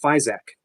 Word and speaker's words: Physioc: I believe it's pronounced Physic, but it's Physioc.